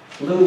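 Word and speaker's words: Lugh: also very important because lou is the child of an intermarriage lou who you spell l-u-g-h okay not l-e-w um is the child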